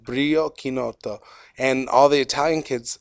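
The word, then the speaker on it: Chinotto: the last 2 minutes, I'm just Chinoto. going to get to it. I'm assuming it's orange. Kinoto. Kinoto. Kinoto, In idiota. Italian, the CH is pronounced like a K.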